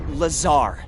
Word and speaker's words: Lazar: a researcher in rr it's lazar actually accent on the tsar but yes i'm your